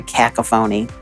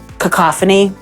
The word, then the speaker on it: cacophony: discourse that right now is just like very cacaphony yeah and I don't I don't I I would cacophony yeah that's the correct pronunciation is it tomato tomato Bermuda I mean